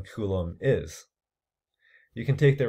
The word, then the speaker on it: Coulomb: new unit called a Coulomb yeah this is pronounced Coulomb named after a scientist with a symbol C